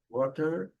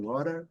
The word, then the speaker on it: water: No inglês americano é water, ou water. Aqui esse T vai ter o som de R também.